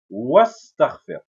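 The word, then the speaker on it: واستغفر: On va lire wastaghfir. C'est-à-dire qu'on fait la liaison directement entre le wa et le sin.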